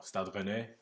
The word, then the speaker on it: Stade Rennes: Stade Rennes or Stade Rennes in French.